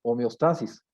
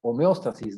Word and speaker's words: homeostasis: que nosotros le llamamos homeostasis. O también se puede pronunciar homeostasis, ¿no? Es el mismo concepto, acentuado o no.